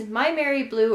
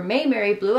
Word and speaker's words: MaimeriBlu: we are checking out these my Mary blue or may mar blue I've heard it pronounced both ways set of five we